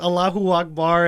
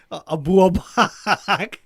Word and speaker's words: Allahu Akbar: I don't know if I said it on camera when I said Joey Diaz mispronounced Allahu Akbar as Abu Abak, or instead of like Khabib, because you know the UFC fighter Khabib, Yeah.